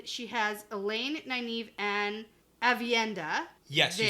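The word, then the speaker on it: Aviendha: And she has Elaine, Nynaeve, and Avienda.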